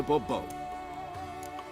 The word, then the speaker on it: Bobo: or better yet as monsieur de bobo the emphasis falls on the last syllable see now i'd rather